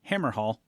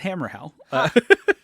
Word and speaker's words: Hammerhal: Uh I have said it Hammerhal forever. That's not how it's said. It's Hammerhell, which it just has it only has the one L.